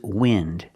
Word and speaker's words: wind: This is wind. It's spelled the same, but it's a different idea, and it's pronounced differently. This is wind.